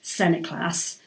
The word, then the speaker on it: St Nicholas: this is where John St Nicholas supposedly pronounced Senate class but we'll stick with